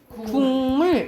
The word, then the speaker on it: 국물: 그러니까 기역이 어떻게 발음된다 이 말이야? 이응으로 발음된다라는 거예요.